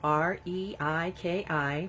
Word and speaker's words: Reiki: about what Reiki is Reiki r-e i ki pronounced reiki is a relaxation technique